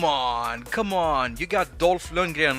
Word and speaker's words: Dolph Lundgren: it's it's awesome and that's how you pronounce his name dolph lundgren he's swedish they should have had